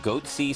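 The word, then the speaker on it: Goatse: They're called Goatsy Security. Is that my pronouncing that correctly?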